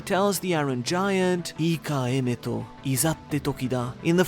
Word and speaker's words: Emeto: Joy Boy simply tells the Iron Giant, "Ika emeto, izatte toki da." In the first half, we get an actual name for the Iron Giant, being Emmet. In Japanese, it's pronounced as Emeto, but it may be